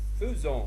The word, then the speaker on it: faisons: Le verbe faire, il se conjugue de la façon suivante, je dis je fais, tu fais, il fait, nous faisons, même s'il s'écrit comme faisant, mais on le prononce faisant, vous faites, ils font.